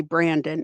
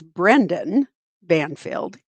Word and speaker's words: Brendan Banfield: I want to say Brandon. It's Brendan Banfield is going on.